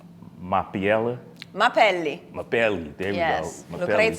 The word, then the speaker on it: Mapelli: make me pronounce it last name? Mapelli. Mapelli.